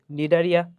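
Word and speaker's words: Cnidaria: ঠিক আছে ভাইয়া, তাহলে দ্বিতীয় পর্ব হচ্ছে নিডারিয়া। এবং নিডারিয়া বানানটা দেখো, বাংলা বানান তো পারবা, কিন্তু ইংলিশ যে বানানটা সেটা হচ্ছে সি দ্বারা শুরু, CNI দিয়ে শুরু। ঠিক আছে? সো নিডারিয়া।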